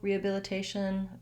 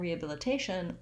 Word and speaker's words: rehabilitation: And then in rehabilitated and rehabilitation, I don't say the H sound.